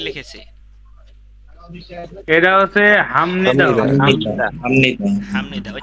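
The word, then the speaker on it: 합니다: আমি বলেছি যে বিয়োপের পরে যদি মিয়ম আসে অথবা বিয়োপের পরে যদি নিয়ন আসে, বিয়োপের উচ্চারণ নিয়ন ম আসে।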